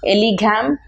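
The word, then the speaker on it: Ellingham: So let us learn what is Elegam diagram. N is silent here.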